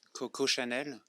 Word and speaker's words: Coco Chanel: Coco Chanel.